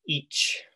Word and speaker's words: ic: you'll see here that ic pronounced each in old english is just the original version of i uh the original version